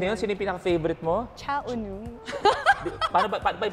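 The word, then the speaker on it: Cha Eun-woo: Cha Unu. Paano ba yung pronunciation?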